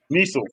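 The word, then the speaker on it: Kniesel: Niesel. K is silent.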